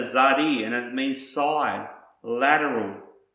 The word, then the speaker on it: Tsadi: the Messiah the mark the next word is pronounced zadi and this is the same as the letter the pronunciation of the letter zadi and it means side